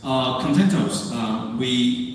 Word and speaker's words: Contentos: Contentos, this word, sometimes a lot of people hard to pronounce. So you can easily pronounce as a content OS, just like EOS.